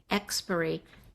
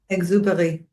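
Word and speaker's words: Exupéry: Epbury. Not sure if I'm pronouncing that right. How do you say it? Exuber. Exuber. Thank you.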